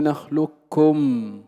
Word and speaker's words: نخلقكم: الإدغام الكامل، أي ننطق بكاف مشددة. وكل هذا قد مر معنا أن نقول نخلكم لكم فلا يبقى أثر للقاف.